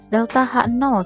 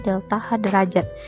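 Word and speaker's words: ΔH°: dengan delta H derajat delta H 0 cara membacanya ya delta H 0 atau ini bisa dilihat tulisannya delta H derajat sebenarnya cara bacanya itu delta H 0 Dan itu dalam persamaan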